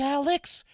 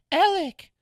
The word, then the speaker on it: Alex: Well, it's spelled like Alex, but it's pronounced Alec.